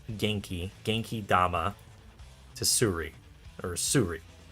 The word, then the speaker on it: Genki: It's not Jinky, it's Genki.